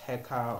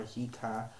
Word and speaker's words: heka: um when I say it's pronounced heka or hika um heka I mean magic